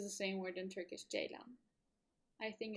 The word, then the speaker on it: ceylan: I'm not really sure, but and it's pronounced J like the letter, and lan as in Mulan. The letter C in Turkish makes a J sound, whereas the letter J makes a J sound.